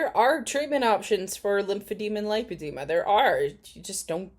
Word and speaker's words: lipedema: anyone's harping on what how I'm pronouncing it lipedema and not lipid Dema I would let's do